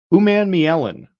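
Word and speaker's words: Umanmielen: um Florida's got an edge rusher princ Ley uman Mellen is how you say that um he is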